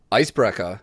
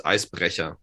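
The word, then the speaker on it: Eisbrecher: It's actually not, if you want to pronounce it correctly, it's Icebrecher.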